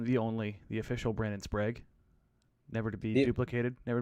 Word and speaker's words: Sprague: they say they're wrong would they say sprog oh sprog sprague spragy spraggy uh one time i got